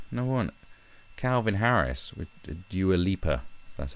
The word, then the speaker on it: Dua Lipa: And so, and like, look at the biggest one, like, no one, Calvin Harris with Dua Lipa, that's how you say her name.